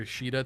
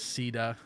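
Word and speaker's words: Caeda: that hanky's got a I keep calling her shida too it's just a force of habit the uh I think it's the the literal Japanese um pronunciation like in English turns into that but I know they localized her as Ceda it's just hard for me to say that Sam has a Marissa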